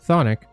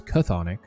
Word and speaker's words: chthonic: So Thonic, and again, I'm saying that because apparently it's pronounced that way. I always thought it was Chthonic.